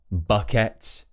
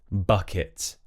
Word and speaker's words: bucket: So I hear a lot of people say jacket, bucket, so where they pronounce it as it's spelt with an ET. However, in British English, it's going to be it. So for example, instead of jacket, it's going to be jacket, bucket, rocket. So it, like it is, it.